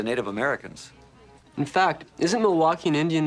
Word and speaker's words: Milwaukee: trade with the Native Americans in fact isn't Milwaukee an Indian name yes Pete it is actually it's pronounced milake which is El gonin for the good land